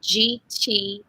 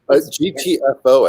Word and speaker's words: GTFO: Well, the online market is called GTOF, as in Frank. GTFO, I think it is. Oh, yeah, you're right. I always say it wrong. GTFO, like get that F out.